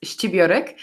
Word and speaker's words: Scibiorek: So my name is and surname is Scibiorek.